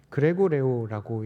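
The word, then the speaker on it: γρηγορέω: 이제 깨어 있다라고 하는 부분의 헬라어로 살펴보니까요, 그레고레오라고 읽는데 이 부분이 성경 전반에 걸쳐서 계속해서 등장합니다.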